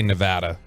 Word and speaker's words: Nevada: Diego State and Nevada all right I like Nevada I like that you say Nevada a lot of people don't get that correct